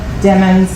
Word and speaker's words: Demons: And remember, demons like rhymes with lemons.